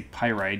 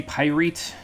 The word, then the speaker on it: Pyrite: in pirate pirate pyrite however you want to pronounce it i'll say pyrite even though i used to say pyrete and so now i say pyrite i didn't